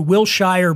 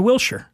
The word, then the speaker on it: Wilshire: They'll say, oh, we're going to Wilshire Boulevard. Yeah, it's spelled that way. Later. So here's how I correct. I don't tell them that they're stupid. I just go, oh, you're going to Wilshire.